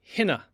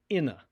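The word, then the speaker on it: ἵνα: It's pronounced hina, hina. Notice that the iota has a rough breathing mark above it with an accent, and that's why the H sound is supplied. Hina, not ina.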